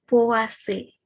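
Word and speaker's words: Poaceae: Misalnya POACE gitu ya. Walaupun ditulisnya POACAE tapi dibacanya POACE gitu.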